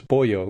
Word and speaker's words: Poyo: So it's spelled like yo-yo with a P is how we usually explain it to people.